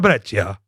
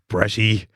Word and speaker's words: Breccia: So let's do our best Italian pronunciation of your name. Luca Breccia. He's a Luca Bresci.